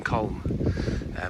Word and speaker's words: Colne: park called Ballgrove Park in Colne, or Colne, however you like to pronounce it, where it actually brings you out here.